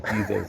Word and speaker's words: Bezos: Bezos. All right? I don't like the name. It's not like Bozo. Bezos. I think that's the way you pronounce it.